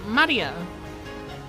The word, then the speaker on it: Maria: It's pronounced Maria.